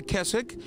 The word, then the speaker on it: Keswick: Spelled like Keswick, but the W is silent.